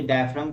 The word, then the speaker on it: diaphragm: डायफ्राम पढ़ा तो डायफ्राम, जी silent रहेगा, ठीक है।